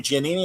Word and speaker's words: Giannini: Am I saying Giannini?